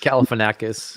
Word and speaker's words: Galifianakis: Galifianakis or something? Galifianakis.